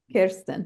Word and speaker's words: Kirsten: Kirsten, I always say your name wrong. Kirsten.